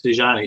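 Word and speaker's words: Desjani: Some of our chat group people want to know how you pronounce, and I think maybe I have this, Dejani in Tule. Yeah, that's it. It's Dejani.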